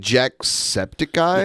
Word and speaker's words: Jacksepticeye: in the video with Chris Reagan isn't it jacksepticeye yes it is okay I was like what